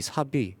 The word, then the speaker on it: SAP: 일단 삽, SAP라는 글자는 말 그대로 삽이라고 읽으면 되는데요.